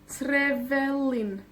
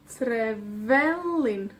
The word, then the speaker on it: Trevelin: Trevelin. Trevelin. ¿Ya? La penúltima.